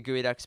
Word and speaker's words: Geoducks: We're just under like the Geoducks band.